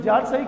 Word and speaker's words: tsar: रूस में राजा को जार कहते हैं, TSAR, इसमें टी साइलेंट होता है, जार।